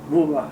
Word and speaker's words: Buma: Buma. How do you spell that? Buma works, B-U-M-A, works, W-O-R-K-S. You say Buma is B or P? B, B is in boy.